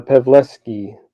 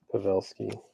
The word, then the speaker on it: Pavelski: to report that back this one is uh pavlesky pavelsky not bad sorry Joe pavelski I got your name wrong it shows zero for you random okay